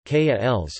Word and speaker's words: qualis: The term qualia derives from the Latin neuter plural form qualia of the Latin adjective qualis, Latin pronunciation, kals, meaning of what sort or of what kind.